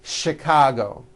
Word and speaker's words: Chicago: And to make things even more difficult, there are a couple of words that are spelled with CH and are also pronounced with the sh sound. Words like chef and the city of Chicago.